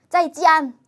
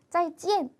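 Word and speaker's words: 再见: 제가 이안, 짜이찌안 이상해요. 짜이찌안 이렇게 하지 않죠? 짜이찌엔, 짜이찌엔 이렇게 인사하죠. 그래서 요거는 발음의 편의를 위해서 중국인들이 약속을 한 거예요. 이렇게 만날 때는 이안 발음하기 힘드니까 이엔으로 하자.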